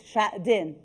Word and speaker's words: Xuejing: I'm doing my own rehearsal to pronounce your name well. So it's Xuejing.